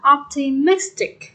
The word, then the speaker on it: optimistic: Rồi câu A nhấn âm mấy đây các bạn? Optimistic, optimistic. Nhấn âm 3, optimistic. Nhấn 3.